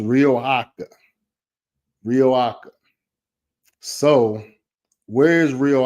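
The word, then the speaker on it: Riohacha: be back here 20 24 as well it's pronounced rioa rioa so where is Rio AA so Rio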